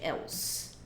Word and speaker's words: else: Tá, vamos falar de else. Else, que a gente pronuncia assim, else, esse E não tem som, tá?